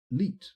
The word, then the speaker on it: leet: Hello, the big TJ 1337, or Leet, more accurately pronounced.